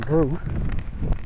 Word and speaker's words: Druex: Alright, so I'm walking down Drew. Well, I don't know why they call it Drew with an X.